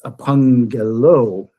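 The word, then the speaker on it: ἀπαγγέλλω: And Tommy, you remember this is makes it sound similar in English to NG, and so when we like the word angel in English, which is a transliteration, angelos, so that first gamma then is pronounced like a nu, kind of like it has an N sound, so it's apangelo.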